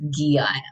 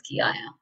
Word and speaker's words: Geeia: And that's how you pronounce my name. So for anyone who has unclarity, it's Geeia. So it's Geeia.